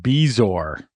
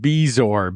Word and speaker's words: bezoar: I am I am pretty sure it is pronounced bezoar. Bezoar? Bezoar. B E Z O A R.